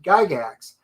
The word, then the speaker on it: Gygax: best friend and um they actually pronounced it in the old world giga um d whereas gary os pronounced it gigax um so yeah he's